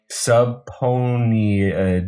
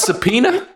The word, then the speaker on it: subpoena: only days after its ceo was sub subpony are you serious you're a lawyer you can't pronounce subpoena it was a ponied